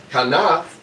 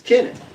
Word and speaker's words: Kenneth: But we don't say Kaneth or Kanath, right? It's not Kanath, it's Kenneth. Make sense?